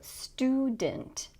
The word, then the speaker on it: student: So student. The second syllable is not stressed, and that means that instead of saying student with a clear S sound, we're going to reduce that vowel.